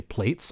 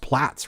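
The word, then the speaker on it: Plaits: But, um, since it was created by a European, I think plat is probably actually the correct pronunciation.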